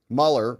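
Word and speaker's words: Muller: Mueller rhymes with duller.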